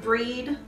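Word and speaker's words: Brigid: correspondences with Bridget yes which here it says you should pronounce Brucie yeah breed whatever really yeah I mean there's actually several different pronunciations but yeah breed is one of the most popular so the different pronunciation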